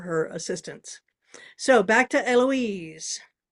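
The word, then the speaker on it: Héloïse: So back to Eloise. The H is silent, otherwise it looks like Heloise.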